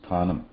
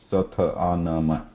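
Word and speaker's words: स्थानम्: But when we need to pronounce it, we should not split. We cannot pronounce, or we should not pronounce like satha anama, because there is no sa here.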